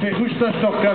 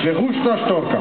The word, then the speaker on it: Verrukta Storka: Et Verruchtastorka, ça veut dire cigogne folle. Le V, ça se prononce S. Verruchtastorka.